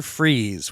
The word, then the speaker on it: Fries: oh yeah Dr Victor freeze which once again very funny his name is spelled more like fries I think but it's pronounced freeze once again one of